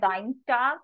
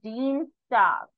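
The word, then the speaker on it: Dienstag: Mon Mon Dean St so this is not dine star i e combination so E songs will come so Dean star Dean star M walk MIT walk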